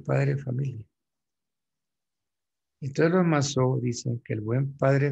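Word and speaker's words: Mazeaud: Para los Massot, Masseau, se escribe con Z, Masseau.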